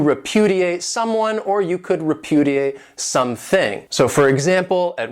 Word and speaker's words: repudiate: This verb has 4 syllables, and the stress is on that second syllable, repudiate.